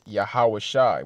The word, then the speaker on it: Yahawashi: from right to left so we have the yah the ha the W the Sha and the I the Sha and the I connect so it's yahawashi which means he saves